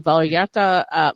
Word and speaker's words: Vallarta: And now talking about upcoming things coming up in Hemet, what about the Vallarta Market? I'm sorry if I'm mispronouncing that.